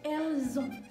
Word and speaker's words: elles ont: ini, avoir ini adalah ada bunyi Z juga di situ, yaitu ils ont atau elles ont, ya.